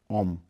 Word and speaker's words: ओम: ओम जैसे ही बोलते हैं तो ओम जो शब्द है ये 3 अक्षर से बना है, आ उ मा, ओम।